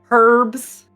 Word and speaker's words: herbs: herbs herbs and spices herbs isn't that how you say it yeah they pronounce the h the H in it herbs I don't know how